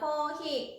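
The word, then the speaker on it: コーヒー: 日本語ではコーヒーと発音します。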